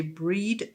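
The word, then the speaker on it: Bríd: Bridget was one of the first goddesses I ever read about, and I believe it is correct to say breed. The Irish, as far as I know, I've read, they pronounce her breed, and Bridget is more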